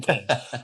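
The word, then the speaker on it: Qayin: And then ultimately this guy, Kane, although it's spelled Quayin, but it's pronounced the Kane.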